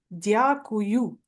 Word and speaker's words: Дякую: Дякую.